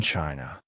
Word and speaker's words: Qin: It is in the textbooks, in the language, in the very name of China itself. The word chin pronounced Chin is believed by many to be the origin of the English word China.